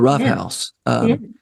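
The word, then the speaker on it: Ruff House: The Rough House. Tell me about the Rough House. Yeah. So the Rough House, it's spelled RUFF, although there are many times I'd like to spell it ROUGH.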